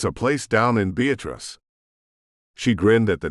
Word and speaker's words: Beatrice: were very backwards because the town wasn't Beatrice, like the normal pronunciation of the name. Nope, whoever had founded the place put the stress on the second syllable.